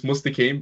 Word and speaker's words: Mustaqueem: how do I pronounce your name? I went past that. I mean, it's Mustaqueem, but I just ask people to call me for short. Just Okay. for short. Mustaqueem.